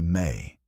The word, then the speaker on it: me: The word was me, pronounced roughly may and it referred to something between a law and a power and a principle.